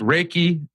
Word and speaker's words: Reiki: he's an energy healing okay okay so it's Reiki and herbalist got the pronunciation stuff out of the way for us